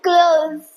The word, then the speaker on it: clothes: clothes னா clothes இல்ல, அது clothes. ஒரு சிம்பிள் ட்ரிக் சொல்றேன். க்ளோஸ் சொல்லுவோம்ல, அந்த க்ளோஸ் ஞாபகம் வச்சுக்கோங்க. ஒரு சின்ன example, I am folding my க்ளோத்ஸ்.